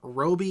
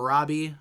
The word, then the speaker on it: Roby: Roby now officially yeah Roby is how you pronounce this guy's name I've been calling him Robbie apparently it is Roby uh and by the